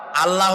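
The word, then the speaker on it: الله: বলেন তো, আল্লাহ নয়, কিন্তু আল্লাহ হচ্ছে অশুদ্ধ, শুদ্ধ হচ্ছে আল্লাহ। বলার সময় মুখটা গোল হয়ে যাবে।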